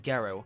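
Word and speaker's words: ゲロ: right from the comment get on in Japanese is pronounced gero which can also mean vomit and cheu is kiss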